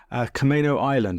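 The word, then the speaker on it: Camano Island: and Seattle, and now lives on the beautiful Camino Island. Have I pronounced that correctly?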